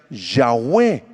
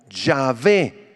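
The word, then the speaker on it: Yahweh: nombre yhb chica H que se pronuncia yahwe por la raíz ha que Les acabo de explicar los masoretas o los eh eruditos del Antiguo Testamento eh pronunciaron el nombre yhb chica H como yahvé Sí o yahwe esa es la pronunciación más probable pero el nombre de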